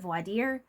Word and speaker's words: voir dire: Some people call it voadier or voadier, but I pronounce it voadier. It's a French term and it basically means a mini interview.